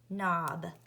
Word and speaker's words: knob: So it is spelled K-N-A, which is O-B, which is B, knob. And K is my silent or ghost letter because I don't hear the K sound.